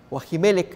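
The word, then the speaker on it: Ajimelec: vida sacerdote jaime lect asimelec es la pronunciación más adecuada el rey me encomendó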